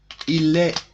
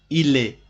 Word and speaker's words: il est: Il est, S and T in this word are not pronounced. Il est, just tell il est.